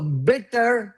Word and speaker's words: bitter: So bitter versus better. Can you say that? Can you say bitter? Bitter. Perfect. And this one? Better. You're saying it right. You're saying it right. I'm saying it right. There's no problem Bitter there. and better.